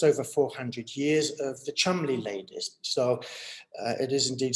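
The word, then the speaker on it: Cholmondeley: going back just over 400 years of the chumley ladies so it is indeed spelled troll mondally but it's pronounced chumley they look very familiar to one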